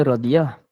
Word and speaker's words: Raziah: Melayu tak diambil kira walaupun namanya raziah tapi sebenarnya adalah radiah Oke kalau namanyail sebenarnya